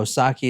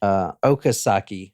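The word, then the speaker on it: Okazaki: And then Dale Osaki is upstairs. And that is not how you say her name. I'm sorry. Okasaki is upstairs.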